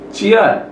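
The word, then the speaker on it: 치읓: Ciat sama juga, CH di awal, di tengah CH, di akhir T. Kiat nomor 11.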